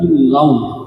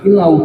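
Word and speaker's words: إلا الله: Asyhadu alla ilaha illallah. Bukan illau. Kalau illau sekali lagi itu kita menambahkan waw sukun artinya. Kalau menambahkan waw sukun itu tidak boleh dan tidak sah.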